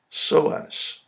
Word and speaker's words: psoas: pronunciation of this word with a silent p is so s so this is the psoas major muscle the two muscles